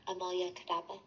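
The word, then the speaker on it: Amulya Kadaba: Amulyas Kadaba.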